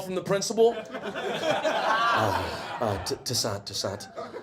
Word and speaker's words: Toussaint: Toussaint. Like every older white guy mispronounces my name with like a instead of a T-O-U.